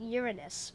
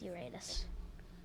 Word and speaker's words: Uranus: I know some people pronounce it Uranus, but I'm going to go with Uranus.